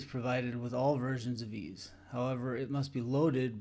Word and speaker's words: EES: EES which is pronounced ease is an acronym for Engineering